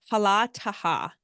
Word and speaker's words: Hala Taha: It's Hala Taha.